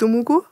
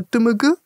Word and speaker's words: Dumugu: Also die französische Aussprache ist jetzt Dumugu, aber jetzt ist es ein bisschen linguistisch. Ja. Die haben so Schwa-Laute, also selber sagen sie eigentlich eher Dumugu, etwas in die Richtung.